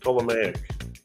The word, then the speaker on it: Ptolemaic: Oh, I'm supposed to say just Ptolemaic. Don't pronounce the P.